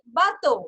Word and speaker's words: bateau: Bekam bato.